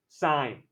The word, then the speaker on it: sine: we write it s-i-n it's not sin it's not said sine sine how do you find